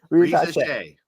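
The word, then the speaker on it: Risacher: I still can't pronounce it. Reza Shea. Reza Shea.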